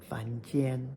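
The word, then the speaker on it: 凡间: 凡间. It sounds so much like 房间, room, but this is why context, pronunciation, and tones are so important.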